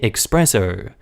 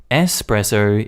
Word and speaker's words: espresso: being your native language when most english speakers also say expresso espresso is italian that being said this